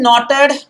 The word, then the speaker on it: knotted: the way the men knotted guys this is knotted silent k knotted knotted a rope at certain